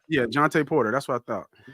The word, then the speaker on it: Jontay: How do you pronounce it? Jontay Porter, right? Yeah, Jontay Porter.